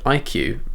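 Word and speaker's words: iCUE: software that corsair has called iq it's spelled i-c-u-e and that basically gives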